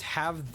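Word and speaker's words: は: the sentence Watashi Wa but it is only pronounced W in that context if you just have that symbol in the middle of a bunch of other symbols as a single word then it is pronounced ha okay but Google says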